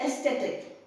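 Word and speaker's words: ecstatic: also along the meaning you also need to pronounce it correctly it is aesthetic aesthetic ECS sound s aesthetic aesthetic I'm aesthetic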